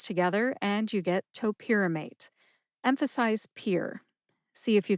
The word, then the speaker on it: topiramate: Topamate has four syllables. That's toe like the toes on your feet. This first syllable is identical to the first syllable in the brand name, which is topamax. By the way, again, toe like the toes on your feet. Pier as in a landing place for ships.